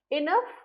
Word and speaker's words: enough: that for example enough enough in this case GH is pronounced as F physics in this case